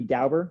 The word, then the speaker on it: Dauber: So Jeremy Dauber, is that how you say your last name?